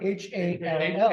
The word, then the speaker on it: Hal: H-A-L-L, H-A-L, I think he goes, H-A-L, but it is pronounced Hall.